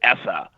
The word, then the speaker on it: ESSA: is that well so everybody in Washington calls it essa but very much right that the No Child Left Behind era is over and now we're on the essa era okay so that